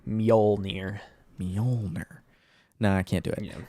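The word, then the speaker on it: Mjölnir: you say it manila mjolnir meaning old yeah the hammer pretend to pretend the y is or the j is a y mjolnir no i can't do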